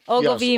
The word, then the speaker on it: Ogilvy: Ogilvy, Minnesota.